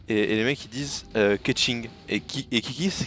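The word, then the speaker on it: Keqing: Moi je joue Ketching sur Genshin Impact.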